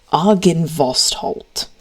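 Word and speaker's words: Argynvostholt: Argan vost halt. spelled like that when it loads.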